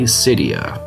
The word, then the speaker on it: Cydia: I usually tell people that it's like Lydia, just if Lydia started with an S.